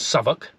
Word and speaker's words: Southwick: Well, today we're in a place called Southwick, pronounced by the locals as Southwark, and we're seeing the spirit of D-Day.